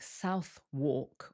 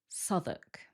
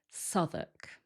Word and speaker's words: Southwark: This one has a silent W, so it doesn't sound like Southwark or Southwark. It actually sounds like Southwark. Southwark.